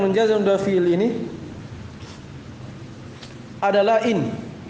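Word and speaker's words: إن: Yang pertama dari alat-alat yang menjazam dua fiil ini adalah in. Cara bacanya di kasrah hamzanya dan disukun nunnya in.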